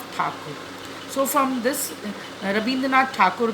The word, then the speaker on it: Thakur: It was Britishers who were not able to pronounce his name properly. They used to call Tagore instead of Thakur.